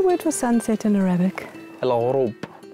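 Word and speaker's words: الغروب: Al-Ghurub. Al-Ghurub. Al-Ghurub. Al-Ghurub. Al-Ghurub. Yeah, you're pronouncing Arabic very well.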